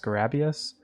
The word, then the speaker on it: Scarabeus: from the boss checklist i think it's pronounced scarabius and that is the